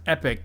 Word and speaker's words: EpiQ: be through tickets um it's pronounced epic Gaming not equip gaming okay sure sure sure